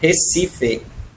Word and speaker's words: Recife: I live in Recife.